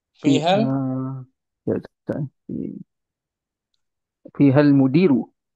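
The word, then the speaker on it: فيها المدير: Jadi bacanya fiha, Fihal mudiri. fihal, Ya, Ustaz. Fihal mudiru. fihal mudiru betul. Jangan mudiri.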